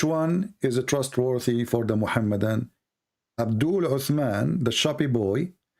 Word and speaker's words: Muhammad: How do you say? I say Muhammad. Is that how you say? Muhammad, yes, Muhammad.